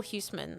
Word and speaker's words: Huisman: But I was thinking of Michael Huisman, I think is how you say his name.